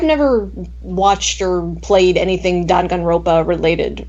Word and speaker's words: Danganronpa: But I've never watched or played anything Danganronpa related. Danganronpa? How the hell do you pronounce it?